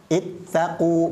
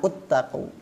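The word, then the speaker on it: اتقوا: ituuni contoh yang lain ini bukan dibaca uttaku ya karena ittaqu ini adalah jamak berarti ini harusnya dibaca ittaqu bukan uttaqu yang ini juga bukan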